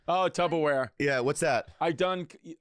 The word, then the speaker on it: Tupperware: I see you the tubby wear. Oh, Tupperware. Yeah, what's that? I mispronounced the word Tupperware on my old podcast,